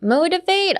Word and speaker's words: motivate: change the T in your head to a D, I know what you want to say.